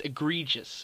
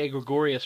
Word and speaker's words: egregious: my favorite word um AG gregorus or not AG gregorious God I always say it like that it's egregious actually I always say EG gregorious for some odd reason